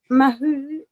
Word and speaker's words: Mahou: everyone, because you've got Mahou, which is a much however you pronounce it. I can't remember now the right one. I think it's pronounced like Mao.